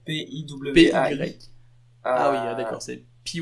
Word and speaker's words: PY: Twitter, @py, mais à la prononce à la française, donc PIWAI.